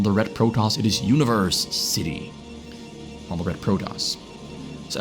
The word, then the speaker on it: Universecity: You kinda say it like university, but it is a Universecity. Not to be confused with the university, but you kinda say it the exact same way.